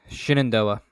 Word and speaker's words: Shenandoah: football game playing at safety Haley van vort is spelled vorhis but I'm imagining his Voorhees um at Shenandoah Shenandoah thank you thank you for correcting that um